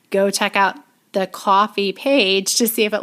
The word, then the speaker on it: Ko-fi: says buy us a coffee and it takes you to a website called coffee not kofi even though it's spelled k-o-f-i um i will redirect